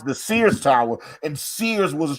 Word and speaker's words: Sears: They were trying to pronounce the Sears Tower, and Sears it's a one syllable fucking word.